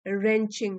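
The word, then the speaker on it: wrenching: Heart रेंचिंग W silent है।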